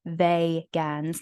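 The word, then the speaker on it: Vegans: league consists of humans begins pronounced they Gans not us in people who don't eat animal products but as in from the system Vega they've got what you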